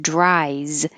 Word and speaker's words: dries: like an s but in the word dries the s looks like an s but sounds like a z because the last sound